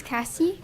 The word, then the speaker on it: Cassie: you KC rails they say it right uh it's Cassie Cassie okay my name is